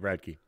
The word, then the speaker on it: Radke: Radke.